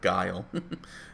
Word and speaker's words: Guile: street fighter 2 and he'll pronounce the name geely instead of guile and we all just